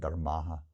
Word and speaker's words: dharmāḥ: All dharmas, sarva is all, dharma is dharmas plural, there's a long A on the end, dharmāḥ.